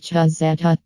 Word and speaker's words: Cezeta: The original Cezeta, pronounced Chuh-zeh-tuh, Type 501, was introduced